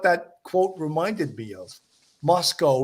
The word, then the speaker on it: Moscow: line that he said Moscow rhymes with Costco or I don't know